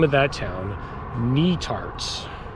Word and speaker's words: Netarts: All right, so you pronounce that, the name of that town, Netarts. Netarts, not Nutarts or Nutarts. Netarts, like the knee that's on your leg, and tarts.